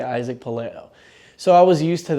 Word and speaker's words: Pelayo: It's funny because it's pronounced Pelayo, but because West Side pronounced it Palayo and size 42, everybody just assumed that it's pronounced Palayo.